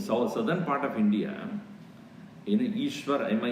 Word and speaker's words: Ishwar: You know, in the southern part of India, in Ishwar, my name is Ishwarananda, right? So they write in southern part Eashwar, then only Ishwar. It should be pronouncing as E.